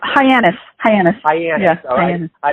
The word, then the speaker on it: Hyannis: back to your childhood you grew up and pronounce Hyannis Hyannis is yes I mean I didn't want to